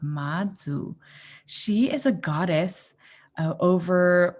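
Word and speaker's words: Mazu: name this is a goddess her name is madzu so it's spelled m-a-z-u and it's present pronounced madzu she is a goddess over parts of the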